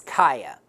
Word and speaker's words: Kiya: He said the official pronunciation is Kiya.